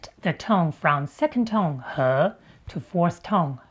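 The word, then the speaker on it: 和: Whether you're mixing to make it stick or not, H is the only pronunciation used.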